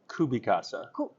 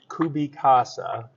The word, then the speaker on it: CubiCasa: do you say it I say it in a really boring way kubi Casa I like your way